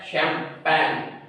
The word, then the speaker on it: champagne: इसको पढ़ते हैं शैम्पेन। अभी बच्चे इसके प्रोनाउंसिएशन गलत निकालते हैं, इस वजह से जो इसकी स्पेलिंग भी जो है गलत कर देते हैं। गलत को यानी कि टिक नंबर कर लेते हैं। तो इसकी स्पेलिंग जो है CHAMPAGNE। अब इसमें जो G साइलेंस है, G ये साइलेंस G